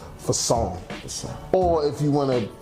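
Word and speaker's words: façon: it means fashion way in French so it's pronounced Fong or if you want to put the little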